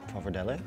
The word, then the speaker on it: pappardelle: How do you pronounce pappardelle? Pappardelle.